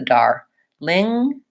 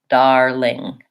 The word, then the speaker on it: darling: how to say it just say the ling-ling and then add the dar Ling darling darling some iron out really